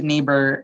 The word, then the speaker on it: neighbor: sound um same with the neighbor you have e i making the a sound gh being silent the easiest example for